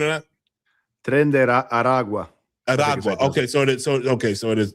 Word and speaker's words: Tren de Aragua: Did I fuck up the pronunciation of that? Tren de Aragua.